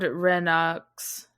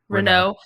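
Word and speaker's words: Renoux: Yeah, so he's like an impersonator, and essentially he impersonates Lord Renox. Is that how you say it? Renault.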